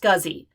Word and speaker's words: SCSI: called a scuzzy yes it's pronounced scuzzy s-c-s-i or a small computer systems interface scuzzy drives are